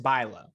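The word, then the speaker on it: Bülow: yeah i know who that is got it pronounced bilo um she has a song called first place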